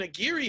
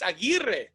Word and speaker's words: Aguirre: I've seen people who pronounce it Aguirre. And I'm like, your last name is not a fucking Aguirre, man. It's Aguirre. They just gave up and